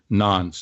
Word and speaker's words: nonce: That is N-A-N-S, nonce. And it's actually, that's the pronunciation, but it is spelled N-O-N-C-E.